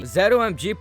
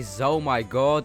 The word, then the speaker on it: ZOMG: of camo or DDT zomg pronunciation this is just personal preference I say zomg but some people say Z OMG and some cringe people even say Z my God and everyone hates that